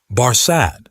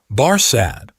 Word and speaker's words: Barsad: "Barsad," said Defarge, making it French by pronunciation. But he had been so careful to get it accurately that he then spelt it with perfect correctness. Barsad, repeated Madame.